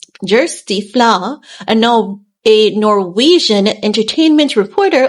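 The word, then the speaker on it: Kjersti Flaa: Amplified on August 10th this person's name is pronounced um JY fla a a Norwegian entertainment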